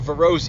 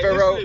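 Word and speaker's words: Verreaux: It's a French word. Yeah. It should be a French one. So So Verro.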